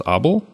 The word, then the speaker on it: obol: And I think I saw that the pronunciation for the first word is Obol. So Obol, right?